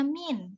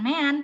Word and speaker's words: mean: Nah, kalau begitu penyajian datanya hanya dalam bentuk tabel, diagram, min itu rata-rata ya Dek ya, bacanya min, bukan mean tapi min.